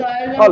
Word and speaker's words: xylem: अच्छा अच्छा, xylem phylum नहीं, उसका right pronunciation is all जाइलम।